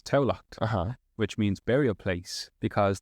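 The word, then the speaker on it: Tamhlacht: So, but Tallaght spelled in Irish is Tamhlacth, which is Taulacht.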